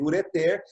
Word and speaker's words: ureter: Se escreve ureter, se lê ureter, mas não tem acento, tá?